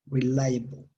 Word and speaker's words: reliable: Reliable. Reliable. Reliable. Reliable. Esta E que va aquí es muy suavecita, casi no está.